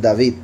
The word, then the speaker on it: David: Solo que la V del medio no se no se pronuncia como o, se pronuncia como v. Entonces, David.